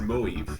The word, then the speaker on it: Moive: But You have to pronounce it in 2 syllables like movie. It's just Moive.